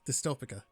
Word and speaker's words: Dystopika: a city Builder a small City Builder called dystopic there we go there we go I said it right dystopic a game made by voids within specifically according